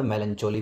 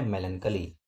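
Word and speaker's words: melancholy: इसको कई बार मेलनचोली भी बोलते हैं जो कि प्रोनंसिएशन गलत है। इसकी सही प्रोनाउंसिएशन है मेलनकली।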